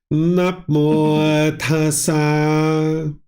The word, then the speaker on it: tassa: On the second word there, I'm looking at tassa, but it seems that you're pronouncing it slightly differently, or are you sticking the T of tassa on the end of namo?